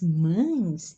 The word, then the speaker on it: mães: o verbo ir as mães estão indo para casa ó observe a pronúncia de uma ent vogais né casa e a nasalização mães né como fosse a is s